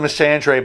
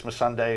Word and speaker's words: Missandei: I always called her Missandei, but they always said it like put a Sunday next to her, so I guess it's Missandei is the way you pronounce it.